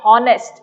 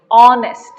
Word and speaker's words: honest: This is beginning when the word beginning with H is silent. H is a consonant, not a vowel, isn't it? And our, you're not saying hour, no. You're not saying honest, no. You're saying honest. You're saying our.